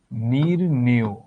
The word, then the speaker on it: নির্ণেয়: এখানে কি এ আছে না, তাহলে কি হবে এটার উচ্চারণ? এটার উচ্চারণ হবে এরকম, নির্ণেয়। দেখলা, এই যে এ থাকার কারণে এই অন্তঃস্থটা ও হয়ে গেল।